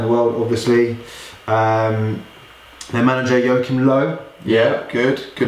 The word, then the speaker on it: Joachim Löw: Their manager, Joachim Löw. Yeah, good. Good pronunciation.